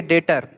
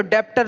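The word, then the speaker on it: debtor: थे, उनको आप बोलेंगे डेटर। क्या बोलेंगे? डेटर। जैसे ऐसे हम लोग पढ़ेंगे ना, तो डेप्टर लिखा है, DBTOR, डेप्टर, पर बी साइलेंट करिए, डेटर पढ़िए।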